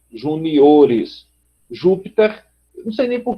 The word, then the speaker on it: juniores: Então você tem júnior, se você só fosse acrescentar o ES, ficaria júniores, júniores. 1, 2, 3, 4. Aí por isso a gente muda para a sílaba forte aqui, juniores.